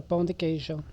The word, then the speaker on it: pão de queijo: Pronounce it again. It's a pão de queijo.